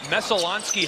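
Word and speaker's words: Messalonskee: He went to Messalonsky High School in Oakland, Maine.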